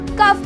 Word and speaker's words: cough: कभी कभी हम लोग GH को F भी प्रोनाउंस करते हैं, जैसे कि ROUGH रफ बोलते हैं, COUGH कफ बोलते हैं, पर ये कुछ ही